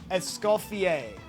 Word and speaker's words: Escoffier: I would say Escoffier. That's what I would go with. All right, my level 1 French pronunciation is Escoffier.